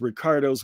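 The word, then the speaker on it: Riccardo: Italian and French spelling so it is r i CC a r uh and that's Rick not rice not Rico not Ricky okay um but you can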